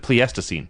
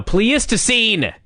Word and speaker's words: Pleistocene: scene yeah I said it right you said pleastocine now please to scene you're doing it again please to seem not